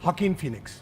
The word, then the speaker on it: Joaquin Phoenix: you pronounce his name? Joaquin Phoenix.